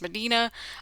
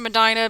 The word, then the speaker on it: Medina: We're doing 910, 920, and 930 Medina Studios. And you might also pronounce it as Medina. I pronounce it Medina because that was how it was pronounced in my home area of Northern Ohio.